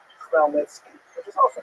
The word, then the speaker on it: Chmielnicki: So this is just the way it's written in Polish, and if you understand Polish phonetics, you'll know that it's pronounced Chmielnicki, which is also not so easy to pronounce, but that's not our job anyway.